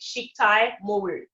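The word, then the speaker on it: chiquetaille de morue: So one of the ways that I like to remember to pronounce it, it's like chic, like a chic dress, right? And tie, like a necktie. So Chiktay. Chiktay Moru.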